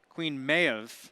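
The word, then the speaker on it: Queen Maeve: And I mispronounced it. It's actually Queen Mayev.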